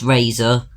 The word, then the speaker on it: RZR: itself that's quite a cool name rer but pronounced Razer is stupid although to be fair these things